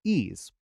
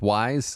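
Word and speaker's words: Ys: their new action rpg series ease oh it's pronounced wise i'm sorry wise so uh and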